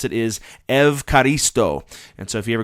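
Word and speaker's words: ευχαριστώ: you'd say thank you is the way they pronounce it is evaristo and so if you ever go to a Greek restaurant that's how you can thank your uh server for the food say evaristo that's how you'd say thank you in in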